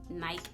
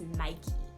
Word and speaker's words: Nike: Okay, so if you are like me and you've been pronouncing Nike as Nike, you're actually pronouncing it wrong. It's actually pronounced as Nike.